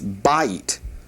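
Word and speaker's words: בית: The word house is pronounced bite. Notice it's not bite, it's bite. Bite. You put the accent right there on the the first syllable.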